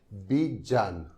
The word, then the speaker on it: Bjarne: Normally उनके नाम का प्रोनाउंसिएशन था बीजान।